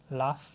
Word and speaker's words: love: Love. No, love, no. Love suena a risa.